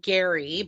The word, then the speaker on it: Gerry: a guy from Indiana named Gary but it's spelled Jerry so it's kind of